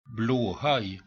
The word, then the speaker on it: Blåhaj: Blåhaj. Well, there you go. That's I think that is a male from Sweden, so I'm pretty sure they know how to pronounce it.